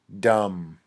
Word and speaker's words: dumb: like stupid stupid dum-dum notice the B is silent dumb ok this means not